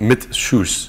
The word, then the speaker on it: Mit Schuss: Mit Schuss. Oh, mit Schuss. Yes. Yes, Mit mit Schuss. Schuss. Mit Yeah. Schuss is how you say that, yes.